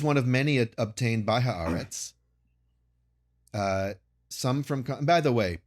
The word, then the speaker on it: Haaretz: The description is one of many obtained by Haaretz. Some from... By the way, podcasters, everyone, just pronounce Haaretz correctly, all right? It's not Haaretz. It's not Haaretz. It's Haaretz. Let's just...